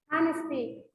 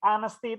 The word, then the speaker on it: honesty: Honesty itu huruf awal, suara awalnya konsonan atau vokal? Honesty. Honesty. Vokal. Vokal ya. Honesty itu suara awalnya vokal ya. Honesty. Walaupun tulisannya honesty, tapi bacanya honesty ya.